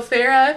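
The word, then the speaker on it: Feyre: i s okay so Farah f e y r e asked Alice hey I want to go talk to amarantha and Alice is like absolutely not so Farah ends up getting like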